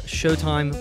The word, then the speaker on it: Sheauxtime: or instagram all under showtime podcasts that of course is spelt the Cajun Way sh e a ux time podcast also if you'd